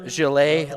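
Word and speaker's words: Gillette: that I it is Liam Galile like the razor company. So I said it wrong.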